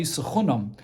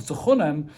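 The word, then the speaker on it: תחנם: And says the Gemara, in kain le mikra loy suchunam. The right way to pronounce this would be as if it would be written with a vav, suchunem.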